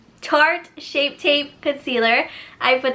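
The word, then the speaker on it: Tarte: I put some short why do I always say shark it's not a shark it's tart shaped tape concealer I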